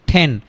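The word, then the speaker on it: ten: তারপরে ট উচ্চারণ না করে আমরা কি উচ্চারণ করব? ঠ উচ্চারণ করব। ঠেন ঠেন ঠেন ঠেন।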